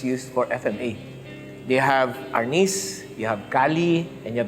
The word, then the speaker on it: arnis: Arnes is the Spanish term from which the word arnis was derived. That's the Tagalog pronunciation of arnes.